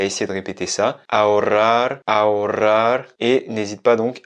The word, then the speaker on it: ahorrar: Se dice ahorrar.